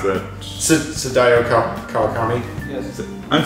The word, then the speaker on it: Sadayo Kawakami: How do you pronounce that? Sadayo Kawakami. Yes. I'm Sadayo Kawakami.